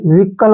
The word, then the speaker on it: vehicle: अब next VEHICLE, अब यहाँ पे देखिए V का जो उच्चारण है हम V करेंगे, ठीक है, H यहाँ पे साइलेंट हो जाएगा, और ठीक है, CLE को क्या पढ़ेंगे हम, कल, ऐसे विकल बोल सकते हैं हम इसको,